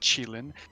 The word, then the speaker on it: Qilin: Chinese pronunciation is Qilin.